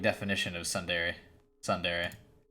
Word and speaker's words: tsundere: Dude, she's like definition of tsundere. Tsundere. Yeah, that's how you say it.